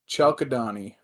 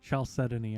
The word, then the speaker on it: chalcedony: that what's that called chalkadani what is it's not called that it's definitely not pronounced like that it's like chalcedony I think oh okay what is